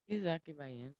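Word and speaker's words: Isaque Bahiense: Am I pronouncing that correctly, Nico? Izaki Bayensi, yeah.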